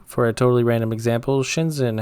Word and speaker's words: Shenzhen: Shenzhen, how do you say it? What's the ZH? Can you ignore the H? Spoiler warning, you can't. ZH is its own sound in Chinese.